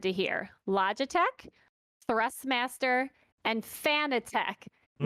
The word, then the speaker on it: Fanatec: hear: Logitech, Thrustmaster, and Fanatec. Mm. Now, you may hear it pronounced as Fanatic. I hear both. 50% of the time I hear Fanatec. 50% I hear Fanatic.